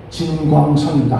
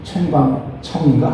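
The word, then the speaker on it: 陈光诚: 중국의 유명한 인권 변호사 진광선입니다. 한자로는 진광선이고 중국 발음으로는 챙광청인가 하는 그런 사람인데 미국으로 옮겨가면서 미국으로 망명해서 거기서 살면서 이런 얘기를 했어요.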